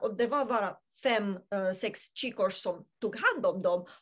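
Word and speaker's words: csikós: Det stavas C-S-I-K-O-S, Chikos uttalas det.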